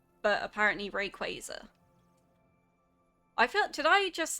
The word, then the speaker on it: Rayquaza: or like I I feel like I've sequa, but I guess like maybe some people go Rayquaza. You were like, "But how?" Yeah, that's There are definitely like some pronunciations where I'm like, "How the have you got that?